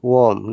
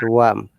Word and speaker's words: warm: It is warm, not worm.